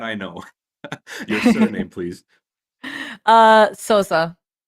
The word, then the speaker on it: Sousa: So, how do I pronounce it? But okay, that I know. Your surname, please. Sosa. Sosa.